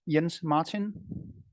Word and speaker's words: Jens-Martin: name please my uh first name uh is pronounced yens Martin yens Martin okay yeah